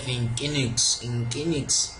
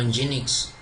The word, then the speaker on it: Nginx: We have Nginx or Nginx, depending on the pronunciation differs. It's NGINX in capital letters. I might call it Nginx.